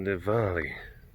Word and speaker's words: Diwali: Let's see what Dival, the old Diwali, Diwali. That's how it's pronounced in some places.